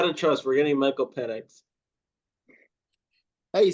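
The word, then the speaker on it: Penix: no you got to trust we're getting Michael penex hey you said it right this time we're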